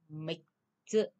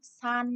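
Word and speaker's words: 三つ: Thì đây chúng ta lót chữ đọc là mịch chữ. Mịch chữ. Đây mịch chữ đáp án là câu 2 chứ không phải là đếm san nha. Không có san chữ nha.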